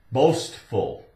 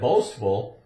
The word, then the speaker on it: boastful: We call that boastful, and it's got the S-T where you can hear the T in it. So it's S-T, st, boast. Boastful.